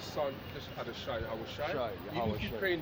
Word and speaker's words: Yahawashi: Yeah, so Yahweh and Yahweh Shai. Just add a Shai at the end of the pronunciation.